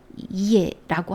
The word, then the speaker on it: ye: 얘는 오늘날은 단수도 you, 복수도 you이지만 킹 제임스 버전 성경 당시에 예라고 하지요. 예 이렇게 발음합니다. 우리가 yes 할 때에서 s를 빼고 예 이렇게 발음하면 되고요.